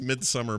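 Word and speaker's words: Midsommar: Nicole to say it that way it is midsummer it's pronounced it's pronounced midsummer but it's spelled in the way that you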